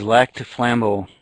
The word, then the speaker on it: Lac du Flambeau: I spent several years, about almost 10 years living in Wisconsin, but I just don't want to butcher the name here. It is Lac de Flambeau.